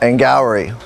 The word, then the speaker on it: Angourie: Angourie. They say it like it's like Maori, although I think it's pronounced Maori, so I don't know.